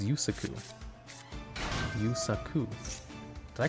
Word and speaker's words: Yusaku: DuelLogs, for DuelLogs, so your pronunciation of Yusaka is your stream punishment? Yusaka? It's Yusaka. What is it? Yusaka? Yusaku? Yusaku? Oh wait, it's Yusaku.